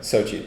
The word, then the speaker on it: Sochi: Sochi.